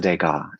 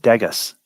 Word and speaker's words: Degas: but it was a degas actually at least you pronounced it correctly i figured you would have pronounced it dagus i mean i'm not